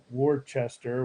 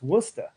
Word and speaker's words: Worcester: is not listless whoo to Worchester whatever it's Worcester what's that yeah talk